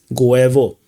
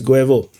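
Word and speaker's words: Гуево: the Russian Defense Ministry did not mention Goevo or Guyevo or Guyeva, depending on what you pronounce, what you prefer to pronounce. So it is a bit interesting that Guevo is no longer mentioned. So Guevo, it's Guevo.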